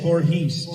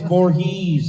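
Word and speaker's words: Voorhees: me in Freddy versus Jason because I kept mispronouncing Jason is it Vorhees or Vorhees Vorhees Vorhees right kept saying Vorhees Jason Vorhees and they go cut I go what they're like it's Vorhees I'm like I said bores like no you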